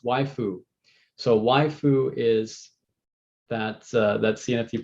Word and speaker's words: waifu: Oh, okay, so it's pronounced waifu.